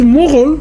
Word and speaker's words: Mughal: When they use Mughal, which is the Turkish pronunciation of Mongol, it usually means these are the real die-in-the-woods inner circle of Mongols.